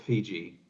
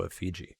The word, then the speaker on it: Effigy: Pretty sure it's pronounced Fiji. Oh, Effigy. Got it.